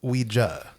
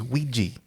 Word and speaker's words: Ouija: That's interesting that you went with Ouija. The correct pronunciation. Yeah. Yes. Yeah. Because my dirty American upbringing is Ouija. I don't know. Like it's spelled with an A.